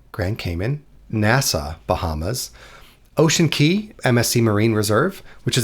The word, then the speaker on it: Cay: Key is the proper pronunciation for these islands.